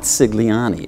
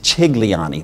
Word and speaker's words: Cigliani: I said, first of all, it's not Cigliani. It's pronounced Cigliani. That's the correct pronunciation.